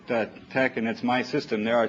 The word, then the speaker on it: TeX: is the the the the fact that the e is a little lower in here means that you pronounce it TCH that's my system there